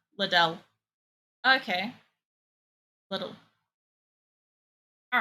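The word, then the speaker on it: Lidl: there it is I you pronounce it like little but instead of saying the T you replace it with the little D so it's little little ldel okay little all right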